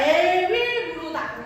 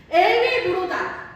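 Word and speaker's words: 에윌므로닥: 발음. 그치, 맞아요. 에윌무로다. 맞아요. 월 아니에요? 에윌무로다.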